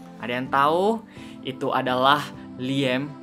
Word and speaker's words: Liam: yang tahu itu adalah Liem Liem atau Liam ya kalau bahasa Indonesianya bacanya Liam tapi kalau misalnya bahasa Inggris si biasanya Liam Liam neson neson i betul